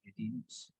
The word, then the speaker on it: idiom: So that is called as idioms. Okay. So look at the meaning of idioms here. IDM. IDM. Look at pronunciation.